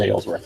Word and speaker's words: Aylesworth: Do we know how to pronounce this author's last? Is it Aylesworth? Ales. It is Aylesworth, okay.